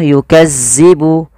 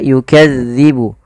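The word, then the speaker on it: يكذب: dilafal melafalkan huruf dalal dalal ini tidak boleh dibaca atau tidak boleh diganti dengan huruf Zai contoh yukazzibu yukazzibu tidak tapi dia yukadzibu yukadzibu yukadzibu bihal mujrimun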